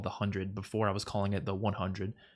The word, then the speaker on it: The 100: um which I was told was actually called The Hundred before I was calling it The 100 but apparently it's just actually pronounced the hundred what else is on there